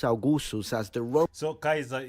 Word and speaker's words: Caesar: So Caesar, it's Caesar, but like the correct pronunciation is Kaiser.